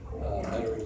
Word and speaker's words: Metairie: suburb of New Orleans, Metairie, Louisiana. That's what I heard them pronouncing it down there.